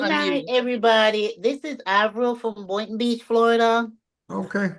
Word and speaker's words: Avril: your name again because I have been It's Avril. Avril. I've been pronouncing it wrong.